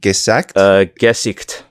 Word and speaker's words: Gesicht: Gesicht.